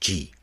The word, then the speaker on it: 地: of of the uh ha that are all pronounced G. There's no and there's no difference in the pronunciation. They're all pronounced G.